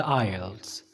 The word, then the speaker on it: IELTS: Most of our subscribers has no any idea about the Ielts. But today in this video, in this short video, I'm going to make you all understand about the Ielts.